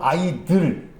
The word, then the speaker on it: idol: 그런데 발음은 아이들.